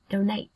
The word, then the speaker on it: donate: Trọng âm đơn tiết thứ hai em nhé. Động từ này. Donate. Donate.